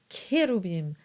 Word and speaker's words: Cherubim: Next is the letter H, and H is silent. So this word is pronounced Osana. And these words are pronounced Cherubim, Sabaoth, and Christe.